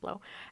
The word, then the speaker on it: Blaux: morning I saw this blow portable AC thing and at least how that that's how they pronounce it blow and what caught my